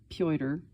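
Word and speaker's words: Petr: Petya, diminutive from P-E-T-R, pronounced Pyotr, the Russian equivalent of the name Peter.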